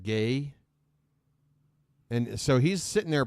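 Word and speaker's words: Gueye: whose last name was spelled like g-u-e-y-e but it's pronounced gay and so he's sitting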